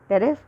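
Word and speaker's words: Pteris: तो इसमें टेरोप्सिडा और टेरिस में पी साइलेंट है, इसलिए इसको बोल रहे हैं टेरोप्सिडा, टेरिस, ड्रायोप्टेरिस और एडियांटम।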